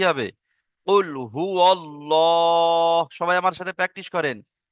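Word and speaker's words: قُلْ هُوَ ٱللَّهُ: কুল হু আল্লাহ। বলেন, কুল হু আল্লাহ। লাম খাড়া জাবার ল, একালিপ টান আছে, ঠিক আছে? তারপরে কি আছে? হা পেশ হু। তাহলে কি হবে? কুল হু আল্লাহু।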